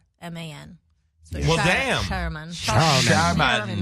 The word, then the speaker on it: Scheuerman: It's Scheuerman. So Well, damn. Scheuerman. Scheuerman. But we just go with Sherman.